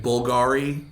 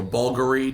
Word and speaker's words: Bulgari: I mean, outside of that, the standards you're looking at, well, for women, you might be looking at Bulgari or Bulgari, depending on how you pronounce it.